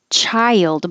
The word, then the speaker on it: child: regardless juneteenth juneteenth and child by itself is the same as wild and mild it's almost two parts